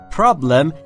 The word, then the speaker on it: problem: دقت داشته باشید در مورد تلفظ problem. Problem بین P و R صدایی مشاهده نمی کنید، پس ما هم صدایی اضافه نمی کنیم. Problem.